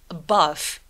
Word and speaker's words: above: Above, above 요거는 음절이 두 개죠? 왜? 처음에 오는 A, 중간에 오는 AI 이렇게 모음 묶음이 두 개라서 그렇습니다.